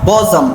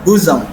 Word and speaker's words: bosom: Then we have woman and bosom. Some persons use we call this bosom. It is not bosom but bosom.